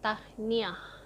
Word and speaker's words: Tahniah: say congratulations, you say Tahniah. It's I don't know if it's 2 syllables or 3 syllables, Tahniah, but you say it really fast, like Tahniah.